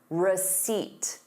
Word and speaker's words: receipt: So, notice receipt, you have the word seat in it.